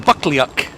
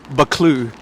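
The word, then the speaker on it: Buccleuch: u c h so it looks like it's spelled bucklyak but it's pronounced baklu and uh we'll pick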